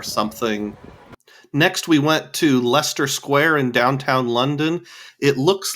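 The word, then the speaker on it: Leicester Square: energy department or something next we went to Lester Square in downtown London it looks like lter square but someone on the bus told me it's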